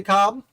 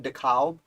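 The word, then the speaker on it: de Kalb: as baron de cobb i think it's pronounced cobb like corn on the cob but there's that l so i kind of try and sneak it in there when i say it baron dekalb uh i say it's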